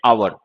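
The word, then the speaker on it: hour: खैर, लेकिन इन सारे वर्ड्स में एच जो है वो साइलेंट लेटर है, प्रोनाउंस नहीं होता। तो जैसे हमने लिखा है ये आवर, आ, तो ये वही साउंड हो गया जो ऑरेंज में होता है।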